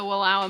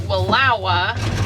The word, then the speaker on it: Wallowa: So we are fairly confident that Wallowa is the right way to pronounce it.